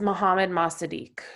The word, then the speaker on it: Mohammad Mossadegh: Is this Mohammed Masadiq? Is that how you say it? yes, Mohammad Mossadegh.